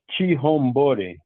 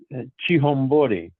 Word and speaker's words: Chihombori: media the name Arikana Chihombori. That last name is spelled Chihomбori. One more time. Arikana, Arikana, and the last name is Chihombori, Chihombori.